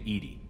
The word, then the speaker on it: EDI: airlock is a jar why are you named Edie Ed is the phonetic pronunciation of Eed where are you my core